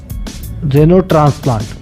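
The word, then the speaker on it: xenotransplant: तो किसी भी जानवर का पार्ट किसी इंसान के अंदर लगाना, उसे हम कहते हैं जेनो ट्रांसप्लांट, उसे कहते हैं जेनो ट्रांसप्लांट, जिसकी स्पेलिंग स्टार्ट होती है एक्स से।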